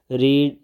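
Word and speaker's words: read: form है रीड की इसमें देखि स्पेलिंग सेम है वही वाले लेकिन इसको पढ़ेंगे कैसे रेड थर्ड भी ऐसे ही स्पेलिंग सेम है लेकिन पढ़ने का जरा स्टाइल डिफरेंट होगा इसे रेड पढ़ेंगे रीड रेड रेड रिंग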